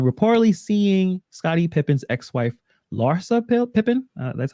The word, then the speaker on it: Larsa: Michael Jordan's son, Marcus Jordan, reportedly seeing Scottie Pippen's ex-wife, Larsa Pippen. That's how you pronounce hmm her.